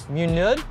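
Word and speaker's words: mynydd: church that makes sense i would say it's more like a u so it's a muneud it means mountain ah that's a tough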